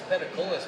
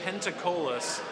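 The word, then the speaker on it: Peticolas: Let me check out this Petacolis brewing. Petacolis, huh? Write that down. Pentacola? Pentacola. The most often mispronounced brewery in Dallas.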